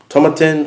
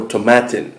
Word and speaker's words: Tomatin: bodas of Toman um tomatin or tomatin I think it's pronounced tomatin U I've heard it both ways but either way the